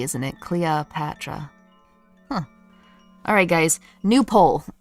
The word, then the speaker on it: Cleopatra: Okay, so you don't like the O, you like the Cleopatra. Cleopatra. It's practically an A, isn't it? Cleopatra.